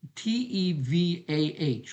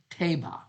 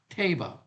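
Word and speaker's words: תבה: The word ark in the Hebrew is the word Tevah. Looks like Teva, but it's pronounced Teba. Teba.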